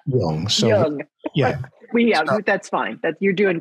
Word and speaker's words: Jung: I just learned how to pronounce Jung. So Jung.